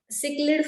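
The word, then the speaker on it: cichlid: वहां के Victoria lake में जब नाइल पर्च को इंट्रोड्यूस करा गया, तो इसने सिक्लिड फिश की, सिक कैसे सिक लिड, इसका प्रोनाउंसिएशन है, सिक्लिड फिश की अप्रोक्स 200 स्पीशीज को एक्सटिंक्ट कर दिया।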